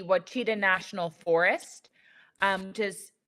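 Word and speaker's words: Ouachita: you know the the I always pronounced it incorrectly it's like the wachita national forest um which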